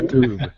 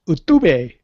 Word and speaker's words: YouTube: YouTube. YouTube. It's pronounced YouTube. YouTube. No. It's pronounced Utube.